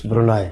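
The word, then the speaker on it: Brunei: Malaysia as well and brune how do you pronounce it's brune how do you pronounce brune that's how it is spelled okay so how would you pronounce it Brun okay it's brunai Brun huh this is very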